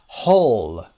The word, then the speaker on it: whole: whole W رو نمیشنوید، whole انگاری که فقط whole HOLE رو دارید میخونید.